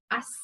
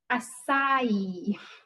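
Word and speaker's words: açaí: So whenever I've been into a salon, I've talked about it being acacia berries, but it's not. It's acai. It's a Portuguese word apparently. So the acai berry is, I'm probably still saying it wrong.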